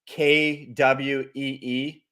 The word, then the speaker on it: Quy: my buddy Ki is his name is spelled quy one of my closest friends uh he's Vietnamese and um it it the pronunciation is like kwe and it's also like we like que but I mean he goes by que but it's like we right so I'm not